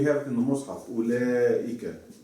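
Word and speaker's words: أولئك: Ulaika. Mm-hmm. So then that means I need to have this here. Yes. See? So you pronounce it what? Ulaika. Ulaika.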